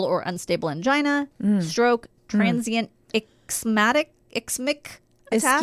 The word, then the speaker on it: ischemic: unstable angina, stroke, transient ischemic attack. Ischemia? Oh, ischemic. I feel like it's a scheme. Ischemic, you're right. I think somebody in my family had that, and that's why I know how that's pronounced.